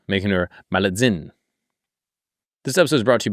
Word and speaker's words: Malintzin: Malintzin. T-Z-I-N. It's got to be Zin.